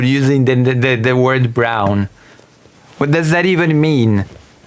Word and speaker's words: Braun: I mean actual surname of a politician that is pronounced brown.